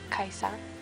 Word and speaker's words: Kaisa: you want to know how to pronounce my name it's um kaisa and it's spelled with an i not a j which is interesting for